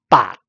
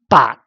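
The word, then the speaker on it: 八: So here, number 8 in Cantonese will be pronounced bat. Bat. So we don't need to emphasize in the end the T. So we only pronounce bat. Bat is enough.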